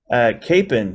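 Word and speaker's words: Kapaun: helped enough men do so is Father Emil Capone am I pronouncing his last name correctly yeah email Capon yeah cap Capen for the the witch talk Kansas folks okay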